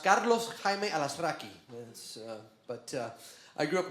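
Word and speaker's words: Carlos Jaime Alazraqui: Correctly in Spanish is actually pronounced Carlos Jaime Alasraqui.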